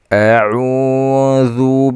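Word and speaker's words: أعوذ: A'udzu billahi minasy syaithanir rajim. Jadi kata jangan sekali keluarkan suaranya di hidung. Karena waw itu kita tahu waw mat adalah jauf makhrajnya, bukan hidung.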